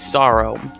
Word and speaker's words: serow: There's also a possibility of a Japanese sorrow. Sorrow is spelled Serow for like the people who want to look that up.